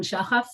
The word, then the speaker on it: Shachaf: Sharon Shachaf. This is how you actually pronounce it. It's an Israeli name.